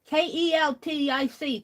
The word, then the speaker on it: Celtic: It's Celtic. Keltic.